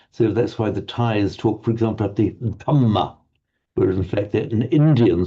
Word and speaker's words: dhamma: So the Burmese will pronounce it with the d, but without the aspiration, dhamma. Dhamma, yes. The Thais will pronounce it as an aspirated t, thamma.